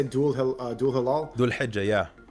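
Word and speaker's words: Dhul Hijjah: Strikes at the pronunciation. How do you say Dul Hilal? Dul Hijjah, yeah. Dul Hijjah, yes.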